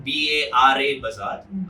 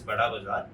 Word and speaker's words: Bara bazaar: It's written in Bara bazaar, but it's pronounced as Bada bazaar.